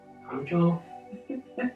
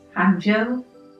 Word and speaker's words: 杭州: university yes I'm trying to get the correct pronunciation it was hjo I said it was hjo so the things that I particularly enjoyed about